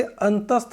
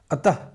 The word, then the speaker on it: अतः: का होता है, लेकिन उच्चारण क्या कहते हैं इसका? ह का करते हैं। जैसे अतः, प्रातः, अंततः, ये सब क्या हैं?